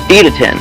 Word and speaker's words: Idaten: Idaten.